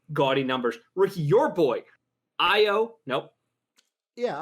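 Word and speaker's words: Ayo: Ricky, your boy, Io. Nope. Yeah, Io. You said it right. Every time my brain has to think. It's an A, but it's pronounced an I.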